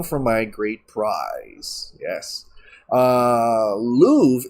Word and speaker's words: Louvre: Louvre is Louvre is pronounced Louvre.